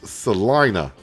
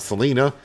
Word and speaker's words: Salina: got the comment um apparently this is pronounce Salina not Selena but Salina uh we can do